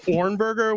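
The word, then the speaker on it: Hornberger: you go I'm uh my last name is ornberger which is mispronounced horribly by everyone uh there's a silent h in there those sneaky Germans but um it's really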